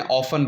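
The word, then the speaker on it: often: इस वर्ड को ऑफ्टन भी प्रोनाउंस कर सकते हैं, ऑफन भी प्रोनाउंस कर सकते हैं, ठीक है।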